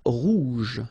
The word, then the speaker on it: rouge: Okay, so la mer Rouge. Remember, G and then E, J, J.